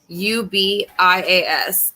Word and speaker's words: Covarrubias: So, but tonight we're going to be doing a reading on, his name is Nathan Alexander Covarrubias, I believe is how you pronounce it. It's Covarrubias, and he was last seen on the county road 772 near Walnut, Mississippi on May 29th of 2020.